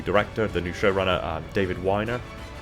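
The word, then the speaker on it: Wiener: new showrunner, David Weiner, I believe that's how it's pronounced. I've mispronounced it a few different times. Sometimes I've said Weiner, sometimes I've said Weiner, because it's spelt the same. I think it's Weiner.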